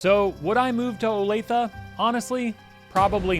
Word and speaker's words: Olathe: It's Olathe, not Olathe.